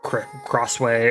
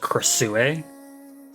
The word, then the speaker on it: Krasue: Earlier in the video, I know I probably called her Crossway or Crawa, but I know now that it's probably pronounced Casu.